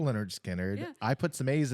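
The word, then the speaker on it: Lynyrd Skynyrd: It's all wise, because one of their albums it's pronounced like it's phonetically, they give you a phonetic pronunciation, spelling. And it's Leonard Skinnard, like how it's You said, have officially impressed me.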